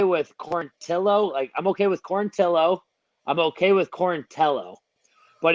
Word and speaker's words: Quarantillo: I want people to be like, oh, Billy Quarantello, he told us how to say it. So I know Billy Quarantello.